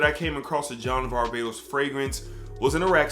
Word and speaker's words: Varvatos: of John Varvatos, or Varvatos. So I've seen so many people pronounce the name differently, but it looks like Varvatos to me, and that's what I'm going with.